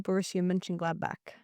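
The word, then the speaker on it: Borussia Mönchengladbach: I lived in Cologne, but I played for Borussia Mönchengladnach.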